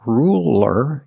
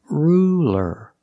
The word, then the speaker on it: ruler: light l that's right it's a light L because it's between vowels so it's not ruler it's ruler ruler use a light